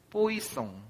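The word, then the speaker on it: Poisson: 이건 뿌아종이 아니라 뽀이송.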